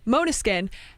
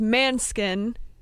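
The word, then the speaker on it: Måneskin: want to say right they said mona skin and that is the dutch way to say it but the italian way to say it is man skin right yeah the other way and everyone was like going back and forth people like dutch and italian you say it this way you say it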